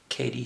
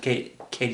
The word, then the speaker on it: Cady: Anthony, and Elizabeth Cady Stanton. Cady rhymes with lady.